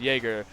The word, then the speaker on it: Jagrr: Uh, Hope is actually a GC1 and twos and uh I'm going to keep calling him Jagger even though I know it's pronounced Jerger. Uh Jerger is a champ two in uh two now.